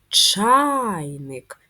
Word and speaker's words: чайник: приголосний твердий позначаємо рисочкою давайте визначимо наголос в слові чайник чайник наголосна А на перший склад порівняймо друковану та писану